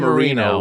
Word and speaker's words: Marino: it Rhymes it RH her name Amia Marino rhymes with burrito burrito he has a wonderful